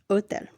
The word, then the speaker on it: hotel: Note, the letter H is always silent in Spanish. Hotel is pronounced hotel.